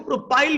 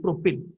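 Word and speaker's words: propyl: होची प्रोपिल प्रोपिल कई ताको प्रोपाइल भी कहती तमे कहि पारो तमे जोटु पढिबो से सार तमरो प्रोपाइल भी कहि पारंती डजंट मैटर प्रोनाउंसिएशन के कोन कला doesn't matter but actual pronunciation होची प्रोपिल अल्किल प्रोपिल किंतु जदि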